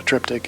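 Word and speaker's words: triptych: anybody watching this that doesn't know what a trip tick is am I saying it right uhhuh yeah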